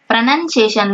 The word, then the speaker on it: pronunciation: noun இருக்கு இல்லையா, pronunciation தான் சொல்லுவோம் நம்ம ரீட் பண்ணும்போது, pronunciation.